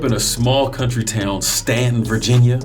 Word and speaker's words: Staunton: a small country town, Stanton, Virginia. It's spelled Staunton. That's how everybody else says it, but if you live there, you know how to pronounce it right, even though it might be wrong.